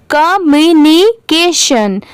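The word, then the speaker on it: communication: मेरे बाद रिपीट करिए, कम्युनिकेशन। अब इसे कैसे आप याद कर सकते हैं? तो देखिए, COM, इसे पढ़ेंगे कॉम। ठीक है, इसे कम नहीं पढ़ेंगे, कॉम।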